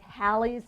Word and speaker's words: Hallie: So the initial syllable here is open, so it should be pronounced how? Haley, that's right. But because my mama named me Hallie, she had a second L in there, which actually I should